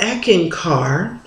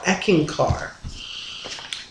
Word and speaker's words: Eckankar: so when I ran into this religion called eeken car and this is how it's spelled EC k a n k a r eeken car echin car is a religion on love and